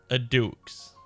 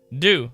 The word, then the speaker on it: Deux: Okay, well, guess that's, I would not have thought it was said as that. Do. Alright, let's jump into Justice a do.